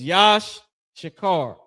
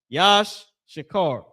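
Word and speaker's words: יששכר: Tribe of Issachar, the so-called Mexicans, that name is Yash Shakar. Yash Shakar.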